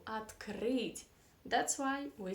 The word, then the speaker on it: открыть: where is the stress the stress is on right it is on the last syllable at creed that's why we say at greed that's not a very